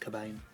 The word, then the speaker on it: Cobain: including Gary's birth surname spelled c k b a i n although still pronounced cabain although the art science